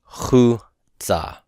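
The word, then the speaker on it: חוצה: So this is outside or toward outside, and it's pronounced chutza, chutza, chutza. Now, the shurik is the vowel, right? And it's technically the vowel that's being stressed.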